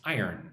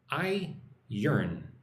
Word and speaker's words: iron: Bunga Nirwana says, how do you pronounce iron? Or how do you say iron? I-yearn. Iron.